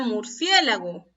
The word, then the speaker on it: murciélago: ¿Y dónde estará la mayor fuerza de voz? Murciélago. Así digo, ¿verdad? Murciélago. A ver, escuchamos. ¿Dónde está la mayor fuerza de voz? En la sílaba cie.